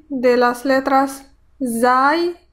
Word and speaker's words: ز: Zu, sa, si, su, z, za, sa, zi, si, zu, su. En el sonido de la letra zai hay algo como el zumbido de un mosquito.